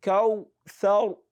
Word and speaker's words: الكوثر: Make sure you are not pronouncing the kal like kali. So it is also very common. No, one of the common mistakes that people make. A'tainaka al-kawthar, kawthar, thar.